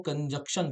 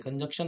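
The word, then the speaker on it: conjunction: अब बहुत सारे लोग इस वर्ड को जो समुच्चयबोधक है इसको कंजक्शन बोलते हैं। कंजक्शन नहीं होता सर। कंजक्शन होता है। यहां पे एन लगा है। थोड़ा ध्यान से देखेंगे तो आपको क्लियर हो जाएगा। तो ये है आपका कंजक्शन। नॉकि कंजक्शन। जैसे कि इंजेक्शन लगा रहा हो।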